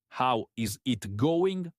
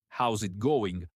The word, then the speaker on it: how's it going: And the pronunciation is soft and connected. Not how is it going, but how's it going?